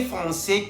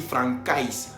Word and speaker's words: français: C avec cédille tiene la pronunciación S. Por ejemplo, français, para no decir francais. Entonces, C français tiene el sonido S, que siempre se va a pronunciar S. Por ejemplo, français, para no decir francais, decimos français.